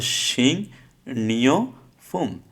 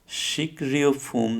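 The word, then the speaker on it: 식료품: তাহলে শিং নিয় ফুম, শিক রিয় ফুম না হয় শিং নিয় ফুম, অর্থ হচ্ছে খাদ্যপণ্য।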